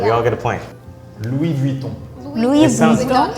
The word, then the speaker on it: Louis Vuitton: Louis Vuitton. Louis sounds- Vuitton. S is silent in the French. So Listen, S at the end of a word is usually silent, and on is so.